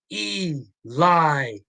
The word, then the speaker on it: Eli Drake: the crowd to chant his name e lie you know it's three accented syllables okay Eli Drake and so they gave